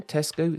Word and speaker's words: Tesco: and for those curious it doesn't have an s on the end despite the fact that many people pronounce it that way Tesco has just under 7